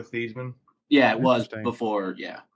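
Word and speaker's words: Theismann: campaign year for Heisman they changed it to Theisman because it rhymed with Heisman but before that he always went by Joe theeman oh I never knew that his actual pronunciation is Joe thieman yeah it was before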